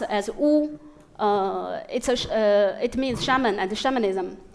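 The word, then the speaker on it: 巫: This sign pronounced as Wu, it means shaman and shamanism.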